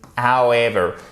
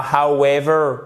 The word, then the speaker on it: however: On a point, on a may and however. Et c'est pas however, c'est however. Vous voyez, ici, on passe directement sans prononcer le W du O au E.